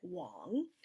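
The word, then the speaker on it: 王: the Chinese word Wang even though it looks like it's spelled Wang you pronounce it wrong and this Chinese word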